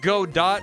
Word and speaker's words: Godot: It's pronounced Godot, not Godot, obviously.